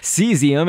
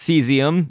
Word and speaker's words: cesium: pants I should say cesium it looks kind of like it's spelled like casium but it's cesium is how that's pronounced that's actually going to